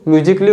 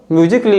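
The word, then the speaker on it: musically: य एक नाउन है अगर म्यूजिक के आगे मैं ए डबल एल वाई को लगा दूं तो म्यूजिकली हो जाता है ठीक है और म्यूजिकली में जो लेटर ए है ना या साइलेंट है ठीक है सेकंड वन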